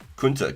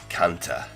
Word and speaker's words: Kunta: Kunta? Not like Kanta. Like you were just slanging some Aussie slang. You Kanta. Kunta.